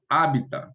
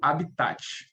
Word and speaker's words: hábitat: Primeiro, hábitat. Pode chamar de hábitat ou habitat, tá? As duas pronúncias são aceitas.